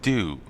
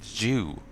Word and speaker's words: dew: to mispronunciation by relatives, saying "do" right. Like, honestly, we had said "Jew," which I think I've heard others say beyond the relatives, so it might be valid. But yeah, morning dew it should be. But yeah, morning Jew we came out as.